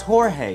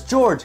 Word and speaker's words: Jorge: will be insane cuz how hard is it to pronounce Jorge you can even pronounce it as George the subs though Jor